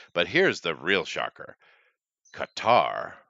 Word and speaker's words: Qatar: here's the real shocker Qatar or Cutter as some people say is the correct way to say it uh they kicked them